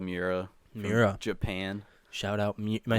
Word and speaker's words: Miura: like for instance there's like this one's called miura japan shout out am i saying it right mira yeah that it's basically just the average head